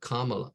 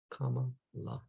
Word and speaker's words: Kamala: out how to say her name uh it's pronounced a Kamala Kamala Kamala Kamala Kamala comma la Kamala Kamala that that Siri thing or Alexa